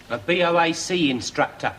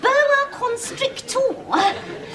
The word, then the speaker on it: boa constrictor: A Bac instructor. No, they pronounced it boa constrictor.